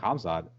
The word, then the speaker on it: Khamzat: With him and Hamzat, hopefully I'm pronouncing it right. You're saying, yeah. K is silent.